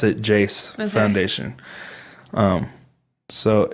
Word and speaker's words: JAYC: No, she pronounced it Jace Foundation.